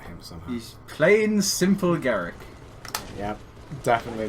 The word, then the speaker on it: Garak: Well, it's similar names, but it's not quite the same because it's more of an A rather than an E. I can't be bothered to pronounce it Garrick.